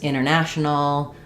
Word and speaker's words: international: But you'll notice this international um internet, Santa Barbara, that the NT can often just become only an N sound in the middle.